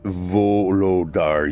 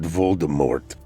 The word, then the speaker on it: Volodar: "It's Volodar, you cretin, not Voldemort.